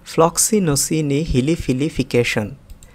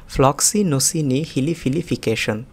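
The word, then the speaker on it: floccinaucinihilipilification: প্রথমে আমি একটু ভেঙে ভেঙে উচ্চারণ করি, ফ্লক্সিনোসিনি হিলিফিলিফিকেশন। আবার দেখুন ফ্লক্সিনোসিনি হিলিফিলিফিকেশন। এবার আমি একটু দ্রুত উচ্চারণ করছি, ফ্লক্সিনোসিনি হিলিফিলিফিকেশন। দেখুন আমি আবার উচ্চারণ করছি, ফ্লক্সিনোসিনি হিলিফিলিফিকেশন।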